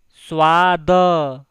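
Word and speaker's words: स्वाद: after me g g g and test is pronounced in Hindi as SW the say it louder after me SW SW swad let's see example for Tong test in both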